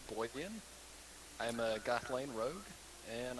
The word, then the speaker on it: Gwydeon: I know it looks weird, but it's actually pronounced Gwydeon.